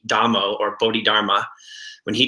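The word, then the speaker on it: Damo: dammo who's also called tomm but it's actually pronounced with a D dammo or Bodhi Dharma when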